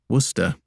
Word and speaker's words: Worcester: Wodehouse who had the same name phonetically, Worcester, but not a sauce.